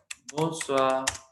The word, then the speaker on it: bonsoir: ठीक है, similarly bonsoir, ये आपको पता है कि ओ आई साउंड्स लाइक वा, और आर हम प्रोनाउंस करेंगे because C आर एफ एल का रूल है, दीज फोर कॉन्सोनेंट भी प्रोनाउंस एट द एंड।